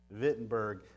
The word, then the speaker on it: Wittenberg: and you notice that the German pronunciation W vittenberg that's about the extent